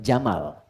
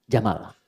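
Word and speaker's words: جمل: ibili kaifaqat ibil jika dia pakai jenis gender dia jantan maka namanya jamal saya notis ya pendek bacanya Jamal bukan Jamal Jamalun unta Jamal ganteng oke sifat ganteng itu sifat indah itu jamal kalau diserap ke laki-laki dimiliki jamil.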